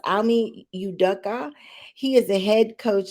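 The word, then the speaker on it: Ime Udoka: So his name, and I hope I don't get it wrong, but it's pronounced Almi Udoka.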